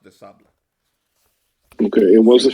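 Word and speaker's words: de Sablé: It's the Sable, but it's pronounced de Sable.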